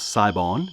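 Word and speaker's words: Sibon: we do know that it's in the genus saibon or sometimes pronounce saibon depending on your pronunciation but this is one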